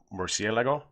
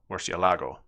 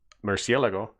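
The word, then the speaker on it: Murciélago: like like over a by default if there's no accent you accent the second to last syllable so if that the accent above the e wasn't there you would accent the LA syllable Murcielago but that's not how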